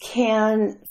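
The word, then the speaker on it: Cannes: festival time M I don't know if I say it right I hear can't I hear can I say can so um c a n n e s but it's French so you can pronounce it any way you want to Ken can s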